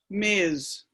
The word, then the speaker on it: Ms: like these days so the pronunciation ms is miz miz or maybe a kind